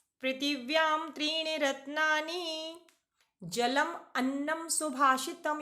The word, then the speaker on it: त्रीणि: पृथिव्याम त्रीणि रत्नानि जलम अन्नम सुभाषितम। यहाँ पर उच्चारण में ध्यान देना है, बच्चे इसको त्रा समझते हैं, त्रा त्रिशूल, जबकि ये त्रा नहीं है, यहाँ पर दो ना है।